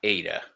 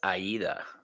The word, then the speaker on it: Aida: Um, and just to let everybody know, it's not Ada, it's Aida.